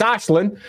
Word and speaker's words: Aislinn: How do they want to pronounce it? Who knows? It's Ash. It's Ashlin. They have Ashlin behind the